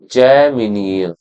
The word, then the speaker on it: जैमिनीय: ब्राह्मण लिटरेचर हमने देख लिया था, टांड्यम एंड जैन, ये है देखो जैमिनीय है ना, जैमिनीय बोलेंगे इसको, जैमिनीय।